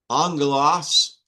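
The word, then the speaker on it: ἄγγελος: Angelos has a gamma nasal in it. That was on your quiz. It's a gamma nasal and it's pronounced NG.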